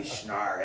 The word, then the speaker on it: Schnarre: It should be Schnar, SCHNARRE.